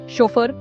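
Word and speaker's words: chauffeur: शोफर यह French origin का word है। इसमें एफ तो बोला जाता है लेकिन यू साइलेंट होता है।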